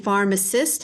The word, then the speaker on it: pharmacist: Pharmacy and pharmacist have the PH, which is the Greek spelling for the sound RF. It also has an R-controlled A, which is pronounced R, like car.